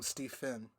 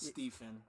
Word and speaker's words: Stephen: record, Steven loves it when you call him Steve Finn. I do not. Don't It you is ever pronounced call me that. Stephen.